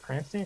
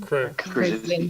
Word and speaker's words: Krasinski: Is it John Cranston? Cranston? Krasinski.